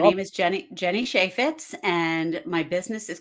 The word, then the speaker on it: Cheifetz: I know I usually tell people the phonetic way to write it down so that they can pronounce it correctly. It is Cheifetz. Cheifetz, Jenny Cheifetz.